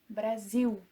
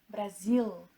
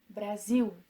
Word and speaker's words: Brasil: The sound of L at the end of a word is normally pronounced as U and not For example, Brazil is pronounced Brasil and not Brasil. No. Brasil.